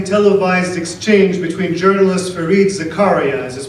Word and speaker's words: Zakaria: In the midst of a lively televised exchange between journalist Fareed Zakaria, as is pronounced on CNN, and neuroscientist Sam Harris on